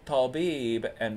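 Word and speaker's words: طبيبًا: Now I took tabib, and because it's indefinite here, a doctor, I have to add tanween al-fath, so it becomes tabiban, and then I have to add an extra unpronounced alif to it.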